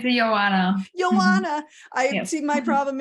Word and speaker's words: Ioana: Ioana, oh my goodness, I mispronounced your name. Can you say it for me again? It's Ioana.